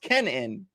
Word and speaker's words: Kenan: five dollar Super Chat Keenan oh hey AJ my name's not Keenan I called him Keenan already but it's pronounced Kenan but could you do a